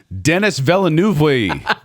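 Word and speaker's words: Denis Villeneuve: Uh, my next director is Deni Velu. Deni, as the Americans say, Dennis Veluvi.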